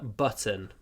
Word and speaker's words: button: Пуговица это тоже button. I have lost a button from my shirt. Я потерял пуговицу от своей рубашки. Пуговица. Button. Button. Не забудьте, что вот ц надо произносить с придыханием.